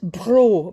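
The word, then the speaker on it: Breault: a poem by Robert it's bra but it's spelt BR eak ult and he's often confused with a chat Robert - bro another bro but beyond e a ult and he's a United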